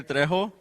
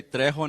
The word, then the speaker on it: Trejo: So my name is Trejo. Please say Trejo, not Trejo. I'm just kidding. I'm Hispanic. You have to pronounce that R.